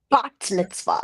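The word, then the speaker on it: bat mitzvah: bot mitz is how you say is it bot Mitzvah bot Mitzvah yes okay I'm not gonna I'm say I'mma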